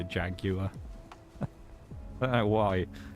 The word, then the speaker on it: Jaguar: Chilling grind in the Jaguar or Jaguar, depending on where you're from in the world, of course. I would say Jaguar because I'm pronouncing it correctly from Britain.